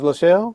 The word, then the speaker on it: Lachelle: This is Lachelle. That's pronounced it right? Yep, that's right.